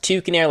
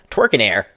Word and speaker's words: Tewkenaire: So that's pronounced Tewkenaire, like Tewkenaire, not Twerkenaire.